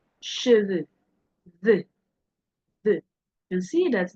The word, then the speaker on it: cheveux: as in P, je, P, de, bleu, bleu, cheveux, cheveux, the. You can see that this is very sharp as I am pronouncing it.